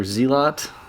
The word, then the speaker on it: zealot: what difficulty is this this is called Zealot or zelot depending on if you've ever heard that word before or if you just read it if youve played Starcraft you know how to pronounce that correctly most likely so that